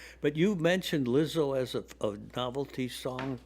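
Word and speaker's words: Lizzo: somebody pretending to be Lizo with a fake python and they used one of my songs. Oh, really? Okay. Well, Lizo Lizo is a It rhymes with Rizzo, but And it it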